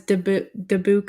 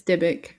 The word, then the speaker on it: Dybbuk: episode yeah yes and I think I pronounced it as the book or something yeah yeah it's debic yeah oh so yeah